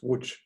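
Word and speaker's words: Łódź: unit let's move to lodge with some the poles pronounced wood and look a chi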